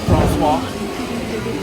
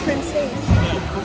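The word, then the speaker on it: Français: Francois. That's not how you say it. It's Francais.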